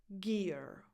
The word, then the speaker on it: Gere: Gear. Gear. This is pronounced just like the word gear, so with a hard g sound, not j.